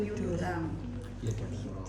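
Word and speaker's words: peau d'orange: Piu de oren tulisannya, tapi bacanya piu dorang.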